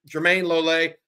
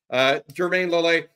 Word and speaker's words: Jermayne Lole: But Jermayne Lole, I think that's a better way to pronounce it than I was. Jermayne Lole, Bill Norton, and Tia Savea all coming in with 300-plus snaps.